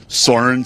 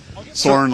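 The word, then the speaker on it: Soren: Saurin. Saurin like an eagle.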